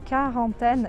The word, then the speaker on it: quarantaine: Agora aqui, quarantaine, eu não posso falar o U. E esse AN tem um som mais fechado, quarantaine, e o E não se pronuncia no final.